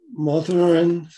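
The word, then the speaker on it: Mathurin: canada who he married and where he lived malthurin is how it's pronounced m-a-t-h-u-r-i-n cadeau he would have been c-a-d-o-t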